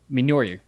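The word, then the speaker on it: Mjölnir: Mjolnir.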